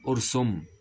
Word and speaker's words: ارسم: مثال طيب هنا يقول ارسم طبعا النطق الصحيح هنا بيضم الايه السين ارسم اللوحه يا وائل